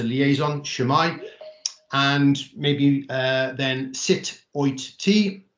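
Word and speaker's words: Sut wyt ti: together phonetically um so sit oi as in when you shout at someone sit yeah how are you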